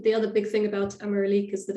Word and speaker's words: Ameralik: I think it's Ameralik, but you hear a lot of different pronunciations.